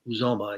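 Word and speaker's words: Uzomah: get away to buffalo uzoma i guess is the way to pronounce it and they still need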